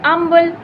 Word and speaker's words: humble: before thy seat an humble and humble heart and humble heart okay so if it is an then we pronounce h as H should be silence so an humble heart